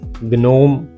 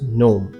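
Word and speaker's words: gnome: नस्टिक ग्ना इट्स न गनोम नो इट्स नोम ग्नली नो it's simply नली सो क एंड ग साउंड है जी एन तो पहला हमेशा साइलेंट है।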